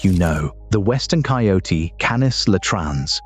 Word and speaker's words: Canis latrans: The western coyote, Canis latrans, pronounced Canis latrans, is a small dog, 25